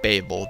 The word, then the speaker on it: Babel: biblical story of the Tower of Babel or Babel depends on how you pronounce it but everyone knows or